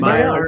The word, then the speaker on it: Maillard: I believe that word's pronounced Maillard. Am I correct? Yeah. Maillard. Maillard, yes.